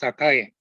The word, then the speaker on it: Sakae: Of course, I love sake, but the correct pronunciation is Sakae.